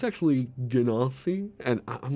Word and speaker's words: Genasi: So I know that some people pronounce it Ganassi, or like, that's apparently the official pronunciation, right? Let's go check with Matt Mercer. If he did a... Genasi. Okay. So I've been saying genocide.